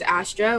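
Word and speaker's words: Astere: on my music handle or artist name is astra which is spelled a-s-t-e-r-e um and you can just look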